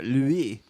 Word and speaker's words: LWEE: Worst Louis? episode ever. LWEE. I Oh, like Louis.